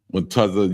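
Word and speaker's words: מצה: So, uh, it's spelled M A T A Z A H. That's m a t a z h. That's unleavened bread. Matza ya. I mean matza fly not the yah.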